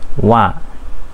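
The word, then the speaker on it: は: bawahi kalau misalkan eh huruf H ini berfungsi sebagai partikel ini dibacanya wa ingat ya minasang ya jadi untuk pola kalimat ini adalah Nani Nani wa nani Nani this di sini saya enggak ngomong Ha Ya karena sebagai partikel huruf H dibacanya wa jadi partikel wa ini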